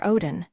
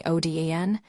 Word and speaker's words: Oden: Um, Sir Odin, would it be possible for you to call me Oden? This is the correct way to pronounce it.